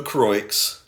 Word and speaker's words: Croix: it's honestly pretty close so the orange the croix that's phenomenal pronunciation thank you thank the the orange it's